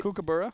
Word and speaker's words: Kookaburra: thought I honestly like we were saying it wrong a kookaburra that's right kookaburra kookaburra saying yeah people